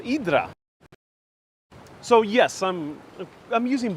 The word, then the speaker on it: Hydra: to live there oh yeah the Ariel is pronounced idra so yes I'm I'm using both versions because